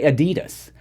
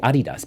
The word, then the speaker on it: Adidas: can hear it that you said adidas because that's the proper way of saying it sorry I don't want to blame anyone you can do whatever but a lot of Americans say adidas but it's actually Adi does but you know